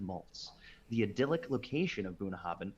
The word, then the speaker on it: Bunnahabhain: mature into distinctive malts the idyllic location of bunhoven pronounced and meaning mouth of the river in gaelic